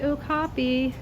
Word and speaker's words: okapi: There's the okapi.